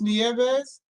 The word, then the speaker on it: Nieves: several different ways and it is pronounced nieves that's correct okay thank you